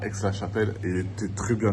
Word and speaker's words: Aix-la-Chapelle: Du coup, là, on est à Aix-la-Chapelle. Ça se prononce comme ça.